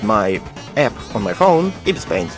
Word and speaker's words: Ibis Paint: Meanwhile, I used my app on my phone, Ibis Paint. Ibis Paint. I'm pretty sure that's how you pronounce it.